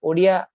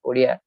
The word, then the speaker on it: Odia: Gita Govinda itself, we find internal evidence of his heavy inclination towards the Odia pronunciation.